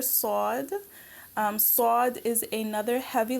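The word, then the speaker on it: صاد: we have the letter Sode Sode is another heavy letter you pronounce it with a round mouth sword so just be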